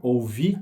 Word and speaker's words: ouvir: merecem nosso cuidado quando ouvir não tem acento mas a gente fala da tônica na última sílaba né que é o imperativo ouvir que me disseram é uma palavra no passado então a gente dá tônica dela na metade da palavra não no finalzinho né disseram depois vamos à